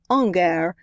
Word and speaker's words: hangar: whole lot better word than Angar which is the way you were supposed to pronounce it one of the sheds